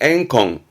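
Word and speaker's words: 怨恨: 요게 원자라, 원한. 발음은 앵콩, 앵콩.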